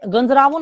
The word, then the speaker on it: गंजरावन: हाउ to pronounce गंजरावो? Okay, it's देखो कैसे है, गंजरावन होता है।